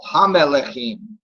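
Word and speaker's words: המלכים: Except And you left a syllable out. did I? Who? Is it me? Oh, Hamelechim. Yeah, Ha-Melechim. And then now there you were kind of turning that schwa into a segol.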